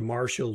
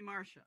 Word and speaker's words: Marcia: david summerfleck podcast my guest today is dr marshall did i pronounce that correctly uh the reverend doctor reverend doctor thank you call me marcia thank you uh marcia let's start with introductions